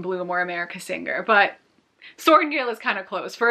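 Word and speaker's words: Sorrengail: the name Violet, but her last name is Soaringale. It is thankfully not spelled like soaring, like S-O-A-R, and then Gale as in G-A-L-E.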